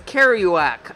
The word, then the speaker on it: Kerouac: the last name is Kerouac I guess it's pronounced keer oh you AC a group of crows